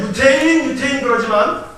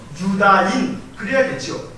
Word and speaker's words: 유대인: 우리가 유태인 그러지만 정확한 발음으로는 유다인 그래야겠죠. 유대인 그렇게 부르다가 이게 조금 이 소리가 거칠어지면서 유태인 그러는 거예요.